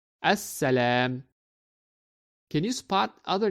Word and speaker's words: السلام: And that is why we do not pronounce the letter lam and we read it as As-Salam.